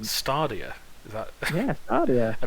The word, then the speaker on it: Stadia: yeah i'm pretty sure i'm pretty sure it's steady i don't know there's no r in there i'm just a simple